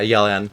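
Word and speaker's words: Yelan: It's not pronounced Yellan, is it? What? I've been saying, like, Yellen, it's Yellen. Yeah, Yellen is how you say it.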